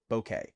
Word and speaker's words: bokeh: That subtle blur effect is called a bokeh effect. Bokeh. In English, it is generally pronounced as bokeh.